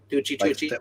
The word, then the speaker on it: Tucci: Tucci. Like Stanley, same way Stanley pronounces it.